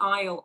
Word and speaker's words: aisle: So it's a I s l e right but we say isleisle isle seat. So the one that is